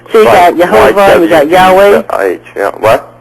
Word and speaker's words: Jehovah: you also have yahovah there's no J in the Hebrew language uh so it would be Jehovah with a Y the yahovah there's various there's various